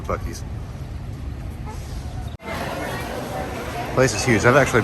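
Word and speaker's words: Buc-ee's: these there it is i thought it was beauties at first because the way it spelled with one seat i was convinced it was beauties my wife had to convince me of the bookies place is huge i've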